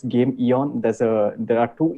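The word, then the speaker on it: Gameeon: company oh yeah yay it's not game on as uh usually people pronounce it it's game eon there's a there are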